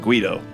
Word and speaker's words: Guido: made it onto the list of things that rhyme with tuxedo, and that's why the song is called Guido.